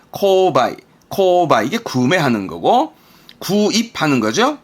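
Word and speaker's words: 購買: 구매. 발음은 코바이.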